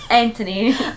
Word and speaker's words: Anthony: they call they say Anthony Anthony they don't really pronounce the h they're like there's no th here Anthony an oh man but